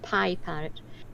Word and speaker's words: Piparrot: So I decided on, took me a while, Piparrot, and it's pronounced Piparrot because I had a parrot who was a pianist. Pianist parrot.